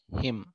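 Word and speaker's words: hymn: लिए अंग्रेजी वर्ड है हिम, हिम ओके, हाँ हिम, एच वाई साइलेंट, हाँ हिम, ठीक है ना, एम न साइलेंट होगा आप प्रोनंसिएशन में हिम बोलेंगे।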